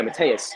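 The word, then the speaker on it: Mateusz: Is it Mateus? Yeah, Mateus.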